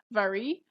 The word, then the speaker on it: Wari: So, like Rebecca said, I am going to talk about a tribe called the Wari, which can also be pronounced as Vari.